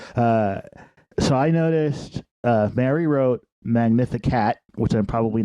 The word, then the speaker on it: Magnificat: Magnificat. It's Latin.